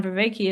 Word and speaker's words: Vervaeke: Vervaeke. Um, Well, actually, it's a Belgian name, so he's saying it wrong.